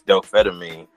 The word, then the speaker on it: dopamine: A lot of people can't pronounce it. They say dope amphetamine. It's no, it's dopamine.